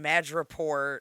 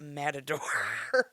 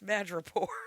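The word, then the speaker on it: Madripoor: picked it up in madraport not matador Matador is the bull fighter in Spain what did I say you said Matador it's mad Rapport oh metapore that's why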